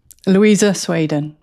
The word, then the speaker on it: Louisa Swaden: Actually, I'll have you pronounce your name because I don't want to mispronounce it. Louisa Swaden. Louisa Swaden.